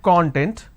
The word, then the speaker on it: content: So we have the word content. I break it into two syllables. When I pronounce this as content, it means ingredient or index. When I pronounce this as that means happiness or being self-satisfied.